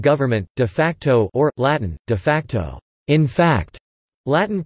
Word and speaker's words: de facto: in law and government de facto or Latin de-facto in fact Latin pronunciation de facto describes practices that exist in